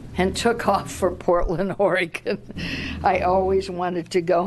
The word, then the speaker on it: Oregon: time I corrected the Harvard professor Oregon is pronounced Oregon I said he stopped he looked at me